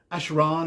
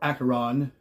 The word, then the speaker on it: Acheron: As you've seen there at the beginning of the video, I'm showing off some of my Acheron or Acheron merchandise. You hear it pronounced both ways, it doesn't really matter.